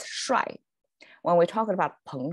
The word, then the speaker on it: 摔: But eventually, it pronounces shuai.